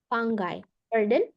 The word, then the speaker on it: fungi: yang baca fungai ada fungi kalau kita orang Indonesia secara biologi kita sering bacanya fungi ya fungi inlish ya bacanya fangaion dibaca seperti g-nya du bet tapi dia penulisannya g-nya sat ya fungus fangai fanges fanges